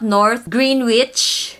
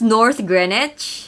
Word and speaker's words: Greenwich: It's not North Greenwich. This is North Greenwich.